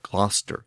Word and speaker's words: Gloucester: It's also found in city names like Gloucester and Worcester, which are no longer pronounced like they're spelled.